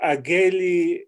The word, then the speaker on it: Aguéli: So Aguéli in the French pronunciation, and he spent most of his life in France.